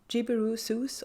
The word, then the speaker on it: JibbyRooSews: Because I've said JibbyRooSews all along, but then somebody made me aware of the fact that it's spelled S-E-W, and that's pronounced so. So it's JibbyRooSews.